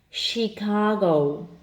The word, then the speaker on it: Chicago: more difficult there are a couple of words that are spells with ch H and are also pronounced with the sh sound was the L sh